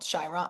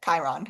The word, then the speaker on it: Chiron: Chiron. I always can never pronounce it. Chiron. It's Chiron, not Oh, Chiron. yeah.